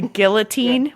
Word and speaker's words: guillotine: the entire episode I said um oh the guillotine what did I say the guillotine gutin yeah yeah still you still don't even know